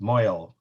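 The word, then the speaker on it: mohel: And so you'll know what it is, and you'll know what the sandak is, and the moel is. Yeah. Sometimes pronounced moel in Ashkenazic Yiddish.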